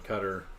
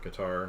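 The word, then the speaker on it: Qatar: a campus out in Cutter or guitar depending on how you say it out in the Middle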